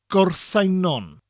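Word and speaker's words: Gorseinon: go Simon in Welsh it's pronounced with more emphasis girl sang non girls sang non the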